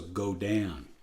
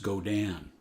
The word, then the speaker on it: Godin: it's a French and it's pronounced go Dan so that's the way I pronounce it now even though it's G